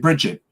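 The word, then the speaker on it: Brigid: it almost like a it's got a soft G on the end yeah um and Peter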